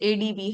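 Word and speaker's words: ADB: by letter by letter जैसे एडीबी हम बोलते हैं इसको एज एन एडीबी ए बी एडी बी पढ़ते हैं हम इसे एबड नहीं पढ़ते और प्रोनाउंस एज अ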